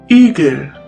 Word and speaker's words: Igel: In the longer version, it's pronounced like the E in the word easy. Easy. The German word with the letter E is Igel.